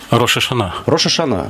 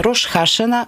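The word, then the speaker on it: Рош ха-Шана: Рош Хашана, Рош Гашана, Рош Ашана. Только произношение так, и ударение касается, и все.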